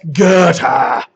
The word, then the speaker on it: Goethe: The first one listed here, Holliday, that looks like Goethe. That's Goethe.